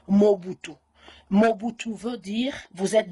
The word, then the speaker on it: Mobutu: originaire de mado et le nom mobutu vous voulez prononcé mobutu mais chez nous on emballe dit on prononce mon but ou mobutu veut dire vous